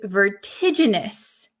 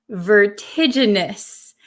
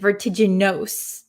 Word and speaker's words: vertiginous: this word this is vertiginous vertiginous be careful of this ending so um in English